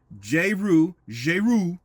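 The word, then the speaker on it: Jeru: These three content creators are J-Roo Trucking, J-Roo, I think that's the way it's probably pronounced, since I understand she's of a French-speaking, origin. J-Roo, J-E-R-U Trucking, and she's based out of the New York, New Jersey area.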